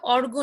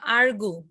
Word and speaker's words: argue: রোজলিন maybe ভুল করেছে, এটা হবে অর্গু না, আর্গু। আর্গু যুক্তি তর্ক করা, আর্গু, আর্গুড, আর্গুস, আর্গুইং।